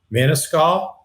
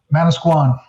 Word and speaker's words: Manasquan: in the uh by the shore mancal is that how you pronounce it Manasquan Mana Squan and I toally vouch